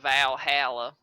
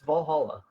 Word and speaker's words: Valhalla: going let you take I say Valhalla instead of valala yeah I don't it's Valhalla yeah that's what I say